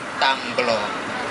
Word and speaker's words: Tamblong: atas jasanya jadi karena nama jalan tablok tapi orang Bandung Kagok Tam long jadi ditambahin B tamblong seperti ya pelafalan lokal ya seperti itu Nah ini